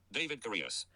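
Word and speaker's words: David Correos: Here's how it's pronounced. David Curious.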